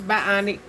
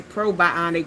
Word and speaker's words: Bionique: I might not be saying it right. But yeah, it's it's it's Bionique. Bionique. It's not pro It don't say probionic, but you know, that's kind of But it's Bionique shampoo and conditioner.